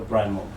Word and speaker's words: PRIMORG: Before we go there, please visit us please follow us on our social media platforms at Official Primorc. Primorc is spelled Primorg.